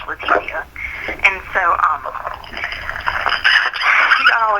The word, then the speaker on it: Letecia: And then, anyway, so the other girl, her name is Letecia, spelled the same way, but, it's like, they say, like, Spanish, Letecia.